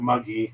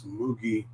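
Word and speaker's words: むぎ: and next it's moogie mu is not ma it's not muggy it's mugi and moogie is barley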